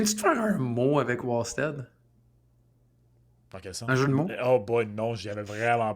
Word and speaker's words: Wallstedt: Ben, c'est parce que je comprends que ça s'écrit Wad mais à la Suédoise, ça se prononce W Stead.